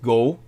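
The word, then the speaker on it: 五: that's their objective uh in Japan the number is pronounced go like go like go it's an action number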